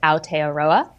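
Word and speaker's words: Aotearoa: for the country of New Zealand and it's pronounced a aroa ah so the mai are they're not native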